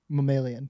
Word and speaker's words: mammalian: Mammalian.